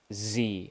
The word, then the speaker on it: xe: the new pronoun is xe pronounced Z with a z like z e and um we we